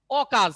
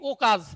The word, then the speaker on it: অকাজ: কিন্তু এখানে দেখো অকাজ, এটা কখনো বলি নাকি ও কাজ?